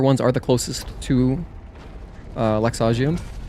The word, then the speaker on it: Laxasia: I'm pretty sure it's pronounced Laxagia, right? Because I finished my playthrough recently, my second playthrough, and I did actually watch the cutscenes, and she says Laxagia, I believe. But in my head, I was saying Laxasia for some reason. But no, that's not how they say it in the game.